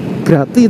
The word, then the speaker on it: Grati: Grati tulisannya ya. Tapi biasanya sih orang sini bacanya kayak saya. Grati.